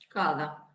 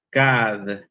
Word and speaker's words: kad: Cada. Tenés un 9, María. No te pongo un 10 porque la palabra no es cada. La palabra es kad. Cuando en croata no se dice cada, se dice kad.